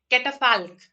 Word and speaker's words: catafalque: Let me just pronounce that root. uh, Catafalque.